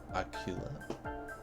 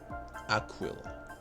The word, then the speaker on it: Aquila: Do you feel this is important, Miss Aquilla? Aquila. I keep wanting to like say her name like in the Spanish style like Akea cuz Akea is eagle in Spanish.